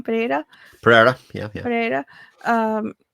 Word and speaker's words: Pereira: Pereira.